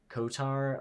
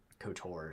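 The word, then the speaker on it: KOTOR: Kotar. Oh, Cotor. Sorry, that was a bad pronunciation.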